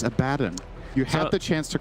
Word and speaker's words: Abaddon: Nets him his, I believe, first charge of the Abaddon, game. not even level 6. You have to say. Yeah, Abaddon not level 6. Good. But he will You be said shortly. Abaddon again. It's Abaddon.